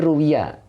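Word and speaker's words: رُوِيَ: Nah, kemudian bukan dibaca rawa. Mana? Ini ruwiya ya. Dibacanya bentuk majhul, Pak Rus ya. Jadi dibacanya jangan rawa, ruwiya, diriwayatkan.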